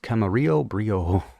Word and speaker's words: Camarillo Brillo: so this was a Camarillo Brillo that's how I'm pronouncing it because that's how Frank pronounced it but pretty sure it's pronounced Camarillo Brio uh a nice like